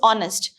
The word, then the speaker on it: honest: this word okay so h is silent here not honest it is